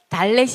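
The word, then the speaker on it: דלת: 그다음에 달렛이 있습니다. 달렛도 마찬가지예요. 지금은 이게 있는 것과 없는 것이 두 가지가 있지만 다 드 발음으로 하고 있습니다. 약간의 차이는 있다. 원래는 그래서 이 디귿 발음이고 DH 발음. 약간의 H 발음이 있으니까 좀 부드럽게 뒤에 해주시면 되고 그다음에 다게시가 있는 거 요거는 똑같이 드 발음 이렇게 기억하시면 돼요.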